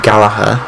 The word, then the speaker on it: Gallagher: Now, I'm pretty sure it's pronounced Gallagher. I don't know if it's the American way of saying it, Gallagher.